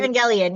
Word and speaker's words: Evangelion: I mean, and you mentioned, I mean, Evangelion, if I'm pronouncing it right. Evangelion, yes.